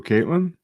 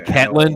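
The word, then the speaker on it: Ketlen: Who, Caitlin? No, Maycee. It's Ketlin, dude. Don't mispronounce her name.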